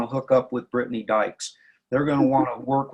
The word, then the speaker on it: Dyches: hi my name's Brittany dykes prit tny dykes d YC h es people pronounce it all the time or digests its Dyke's um I have a